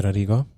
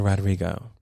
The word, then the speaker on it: Rodrigo: It wasn't working, but Olivia Rodrigo. I'm just gonna say it like that and just keep it stepping, because I tried to roll the R's and there was too many. They're too close together.